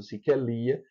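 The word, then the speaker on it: Σικελία: Então, Siquelia, por exemplo, Siquelia, eh, a Sicília é acentuada siquelia porque o último alfa, que é um alfa puro, porque ele vem depois de um iota, é longo. Por isso, se queelia. Lembram-se que a sílaba longa atrai o acento.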